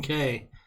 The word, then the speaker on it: Cay: was in Half Moon Cay you know we don't go with the key pronounciation we go with the spelling yeah and they had